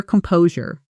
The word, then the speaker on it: composure: Calm po sewer. Stress on the second syllable and that sure ending sounds soft like jur.